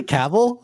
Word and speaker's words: Cavill: Clearly, I'm not good at pronouncing names. Cavill. Is it really Cavill?